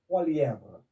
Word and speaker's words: Poilievre: How do you pronounce his last name? Poilievre.